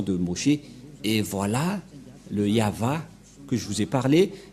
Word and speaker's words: Yahvah: mais la V lecture de ce terme c'est yava je vais vous apprendre directement mais tout d'abord